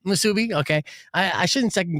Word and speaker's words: musubi: Msubi. Msubi.